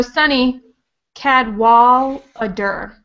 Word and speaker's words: Cadwallader: Okay, so Sunny Cadwallader is how you say her name.